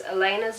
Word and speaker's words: Elena: See, okay, so in the Vampire Diaries, Elena's name is spelled E-L-E-N-A. To me, I would read that and say Eleanor, which is also pretty.